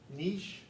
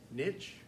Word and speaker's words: niche: it does make sense nice french word niche american biologist niche is that uh both were both pronunciations are perfectly okay i will tell you